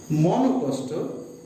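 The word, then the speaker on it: মনঃকষ্ট: মনোকষ্ট, এই শব্দটা মন লিখব, তারপরে বিসর্গ, তারপরে কষ্ট। উচ্চারণটা দেখো, আমাদের উচ্চারণটা করতে হবে মনকষ্ট।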